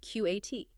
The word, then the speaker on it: qat: She plays the word QAT. Now, for listeners who might not know, QAT is a real word. It's a chewable leaf, usually pronounced cat, but it's very obscure.